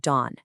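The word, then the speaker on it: 돈: The Sino Korean character for pig, it's pronounced dawn. And guess what the Korean word for money is? You got it. It's also dawn.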